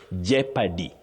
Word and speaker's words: jeopardy: That O in those words is silent not pronounced. So you say jeopardy.